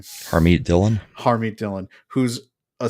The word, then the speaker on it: Harmeet: controversial as Amber Rose, was how do you pronounce her first name? Harmeet Dillon.